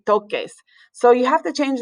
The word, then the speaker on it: toques: So we want the ER endings, toques, but if we do it like that and add ES without changing the C, it's pronounced toses, but we want it to be toques.